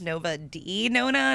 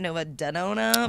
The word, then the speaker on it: Nova De Nona: It is pronounced Nova D Nona, not Nova Denona, by the way.